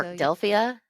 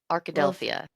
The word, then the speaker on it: Arkadelphia: Arkadelphia. Arkadelphia. Arkadelphia. Probably like Philadelphia, except Arkadelphia.